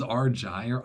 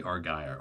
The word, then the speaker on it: Argyre: Okay, he says Argyre. I say Argyre.